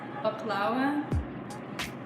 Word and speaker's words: baklava: I grew up with baklava. In Arabic, it's pronounced baklawa.